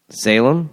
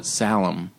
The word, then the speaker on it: Salem: we were Salem Salem I called it sallim just somebody and they were like what I was like yeah I was up in Salem Mass and they're like I've never heard it called that before yeah Salem I just drag my A's cuz it's say like